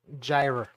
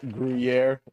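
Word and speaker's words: Gruyère: But uh no uh gyra. It's pronounced griier.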